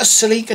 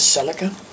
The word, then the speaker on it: Celica: Toyota Celica GT Coupe, or Celica, which is how I've heard many Americans pronounce it, as Celica. I prefer Celica myself.